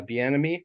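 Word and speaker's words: Bieniemy: he has um what's his face Eric uh B enemy from this offensive coordinator that's how you pronounce it correctly yeah who loves to use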